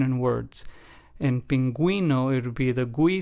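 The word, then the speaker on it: pingüino: us give that gu or gu sound in pronunciation in words in pinguino it would be the GU sound and then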